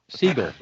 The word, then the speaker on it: Siegel: no no you missed announced seinfeld a seigel siegel jerry siegel nick running interference here i'm being